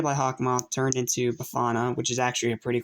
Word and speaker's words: Befana: anywho welcome to my review of bafana no not bakana ignore this stupid idiot at the end of the last review that actually mispronounced it anywho so this episode